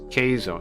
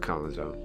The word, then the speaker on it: Keizo: Keizo. It's Keizo though, not Kazo.